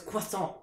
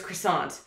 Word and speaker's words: croissant: Yeah, my, like, uppity French friends who say that it's croissant, not croissant. Yeah. I'm like, no, in North America, it's croissant. So, get over it.